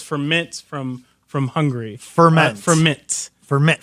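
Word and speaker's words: Furmint: rice what reasing you have me thinking of ferment just because it's a very similar varietal to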